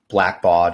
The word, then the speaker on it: Blackbaud: You were director of product management at Blackbaud, if I'm pronouncing that correctly.